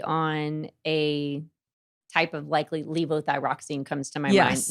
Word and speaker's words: levothyroxine: And what's funny is, so I was on levothyroxide. I think that's how you say it. Levothyroxine. Yeah. I'll leave it to the doctor.